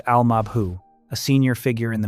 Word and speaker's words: al-Mabhouh: The target is a man named Mahmoud al-Mabhouh, pronounced al-Mabhouh, a senior figure in the militant group Hamas, found dead in his room at a luxury hotel.